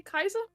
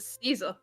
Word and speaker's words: Caesar: aware you was supposed to say Kaiser mhm yeah yeah yeah be honest could just read it Caesar well sure because it sounds good right but there's no sill there's no sedilla denoting the Soft C before an A so yeah it's it's a it's a hard it's a hard C mhm s not everyone